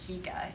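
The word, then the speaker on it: hygge: about denmark is that they created the term higa what famous movie and stage show have you heard the word hika it's spelled h-y-g-g-e that's right frozen talks about the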